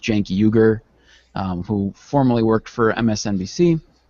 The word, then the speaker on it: Cenk Uygur: It was started by, I believe it's pronounced Cenk Uygur, who formerly worked for MSNBC.